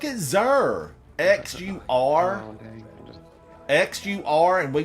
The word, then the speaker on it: Xur: No one pronounces Xur's name with an S and says Sir. It's Xur with a Z, zebra, like a zebra.